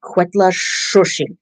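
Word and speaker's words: Cuetlaxōchitl: Yeah, it's pronounced Quetla Shoshi or Shoshi. You sort of say the T, but you can't hear it that much.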